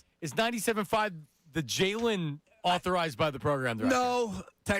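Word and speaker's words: The Jalen: The Jayen. And it's the Jayen. Make sure you put a little stank on it. The It's like WBC. You're not saying it right. The Jaylen.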